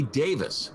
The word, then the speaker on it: Davies: the drums michael girardi man doing his ray davis now dee it's not davies it's davis okay and i actually looked that